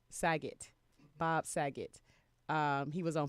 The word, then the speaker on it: Saget: Bob's, how do you pronounce his last name? Saget.